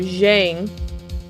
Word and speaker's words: Zheng: It's ZH, so it's a J sound. J? So Zheng.